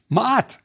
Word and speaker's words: Maat: we have a t so it's mat truth one of sfr's names is Lord of Truth Maat also meant divine order so snfu